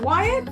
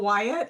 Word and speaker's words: Wyett: Is it Wyatt? I never even asked how to pronounce. What is it? Yes, you got it. It's Wyatt.